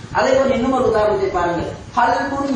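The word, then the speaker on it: قلب: இன்னும் ஒரு உதாரணத்தை பாருங்கள் கல்புன் என்றால் உள்ளம் ஆனால் இந்த கல்புன் என்கின்ற காவை சரியாக உச்சரிக்காமல் அதற்கு சற்று வித்தியாசமாக வருகின்ற காப் சிறிய காஃபை நாம் உச்சரித்தால் அதனுடைய அர்த்தம் என்னவென்றால் நா என்று ஆகிவிடும் கல்புன் என்று உள்ளம் என்று சொல்லப்பட வேண்டிய இடத்தில் அந்த காவை சரியாக உச்சரிக்காமல் நாம் காப்பை உச்சரிக்கின்ற நேரத்தில் உள்ளம் என்று சொல்லப்படுகின்ற என்ற இடத்தில் நாய் என்ற அர்த்தத்தில் நாம் வாசித்து விடுவோம் அதேபோன்று இன்னும்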